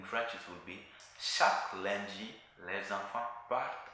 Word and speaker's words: lundi: In French it's lundi.